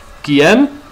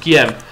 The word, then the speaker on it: Guillaume: Guillaume? I think that's how it's pronounced. Guillaume.